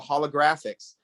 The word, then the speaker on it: Holographics: And I've heard it pronounced about 20 different ways so far. I've got the FXs, I've got the GRFXs, I got the holo GRFX. It's holographics, just trying to help you out.